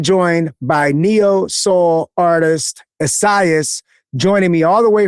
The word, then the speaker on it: Essiyas: I am here with Asaias. Is Am I pronouncing that properly?